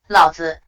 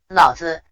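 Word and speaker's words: 老子: The only way to distinguish the two will be to use the neutral tone for father.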